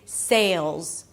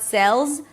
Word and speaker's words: Sales: It's an S sound, then the A as in day, so make sure you hit the E sound at the end, so it's not sells, sells, but say, say. Then a dark L. Pull the tongue in, sail, create that tension. You hear that dark sound.